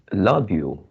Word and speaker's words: lobule: Okay, the this one is uh lobule and you pronounce as lobo.